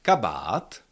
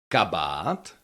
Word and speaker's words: kabát: We have the long ah in the second syllable but the stress is still on the first syllable. So you have to say kabat. Kabat. Never can you pronounce it like something like kabat kabat or something like that. That that doesn't sound like a check word anymore.